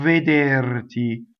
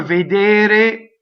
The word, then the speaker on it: vedere: Remember, vedere, it's all closed, right? It's not veder, rhyming with chair.